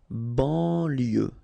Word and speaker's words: banlieue: De banlieue, okay, final E not pronounced, so IEU, IE, L, lieu, banlieue, de banlieue.